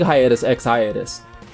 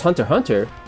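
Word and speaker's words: Hunter × Hunter: because i like watching hiatus ex hiatus wait you don't pronounce it that way it's hunter hunter then what's x for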